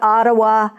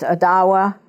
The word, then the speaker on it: Ottawa: she's not agua we it used to be pronounced to Ottawa but now it's pronounced adawa was Native American culture